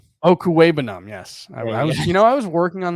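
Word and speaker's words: Okwuegbunam: But I think the bigger thing with his return is, and the return of, hold on, I've got the pronunciation, Albert Okuwebanam. Okuwebanam, yes.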